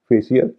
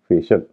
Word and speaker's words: facial: आई एल एफएससीआई एल को अधिकतर लोग फेशियल या फेशियल कहते हैं लेकिन इसका सही उच्चारण है फेशल यानी सी आई एल का उच्चारण हो रहा शल और जैसा कि मैंने